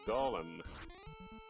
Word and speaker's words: golem: We'll go with golem. That's what I always called it as a kid. So the golem smacks down MeleeWizard, sends him back to the king. I think the Gollum pronunciation became popular with Lord of the Rings popularity.